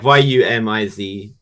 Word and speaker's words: Yumiz: It's spelled like YUMIZ. Oh man, so it's like Yumiz.